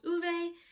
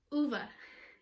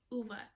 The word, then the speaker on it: Ove: read a man called uve and nope i said it wrong again in the audiobook they call him uva it's a man called uva i fretted bachmann and